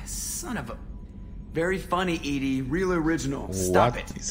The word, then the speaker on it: EDI: why are you named Edie Edie is the phonetic pronunciation of EDI that is an acronym for enhanced defense intelligence how are you getting along with Joker mr.